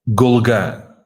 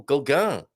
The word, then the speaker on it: Golegã: Golegã. Oh, Golegã. So not the on, as in which place can I think of that does that? I can't. Nothing comes to mind.